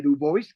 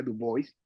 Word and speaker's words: Du Bois: mismo pidió que, no, que su apellido se pronuncia Du Bois, y No, no Dubois como en francés.